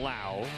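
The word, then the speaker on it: Lowe: left to right and remember it's spelled the same but it's Brandon la yep at second Bas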